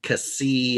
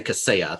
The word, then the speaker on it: Kaseya: the media like solarwinds right but they kept mispronouncing it like on abc they called cassie uh or you know they didn't say caseya they had variations and i'm just like going